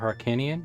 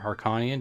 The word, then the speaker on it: Harkinian: I'll be using the ship of Harkinian, or Harkonian, depending on how you want to pronounce it.